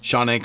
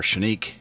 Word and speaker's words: Canik: pronunciation of this firearm basically if you're from turkey if you're over there and you were talking about this gun um i believe it's uh sonic or shanique is the way they pronounce it um but here in america even by century arms the importer it goes by kanik so for the interest